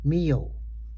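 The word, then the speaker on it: myoho: Mio, think of it as placing the M before one half of yo-yo.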